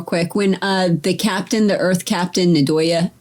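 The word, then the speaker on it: Ndoye: When the Earth Captain, Nadoya, right? Or Nadoy. How do you say Did it? she come in that section? Nadoye.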